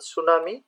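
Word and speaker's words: tsunami: word এখানে correct spell word হচ্ছে এ number সুনামি যদিও আগে টি থাকে টি উচ্চারণ তো হয় না লিভিং ইন পভার্টি দা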